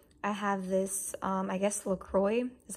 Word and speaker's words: LaCroix: it and then I have this I guess Lacroix is how you pronounce it and the pineapple strawberry and it's